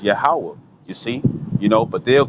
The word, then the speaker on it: Yahweh: saying, and you got the Ya, the Ha, the Wa, and the Ha, which pronounced as Yahweh, you see, but they'll